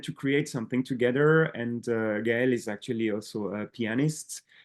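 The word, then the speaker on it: Gaëlle: I kind of read the name, but Yeah, it's always a hard name to pronounce. It's like Gaelle. Gaelle.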